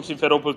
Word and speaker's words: Simferopol: Well, how do you pronounce this, Doman? Help me out here. It's Simferopol.